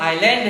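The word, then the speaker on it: island: ने बताया कि यह आइलैंड है। आप समझे नहीं कि आइलैंड क्यों है। आज आप देखिए कि आई और एल के बीच में जो ये एस था ये साइलेंट हो गया है, आइलैंड है।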